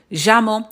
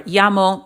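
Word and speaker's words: llamo: Means the same thing, but sometimes people will pronounce it with a different accent depending on what country they're from, but it it'll still mean the same thing. So whether you say jamo or yamo, it'll be correct.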